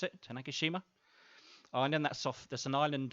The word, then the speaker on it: Tanegashima: It's launching from a little island called Tanegashima, I think you pronounce it, Tanegashima.